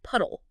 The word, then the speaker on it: PUDLE: That's p u d l e, but it's pronounced puddle.